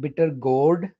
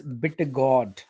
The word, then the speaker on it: bitter gourd: o u r d not bitter gourd it's bitter god bitter god bitter god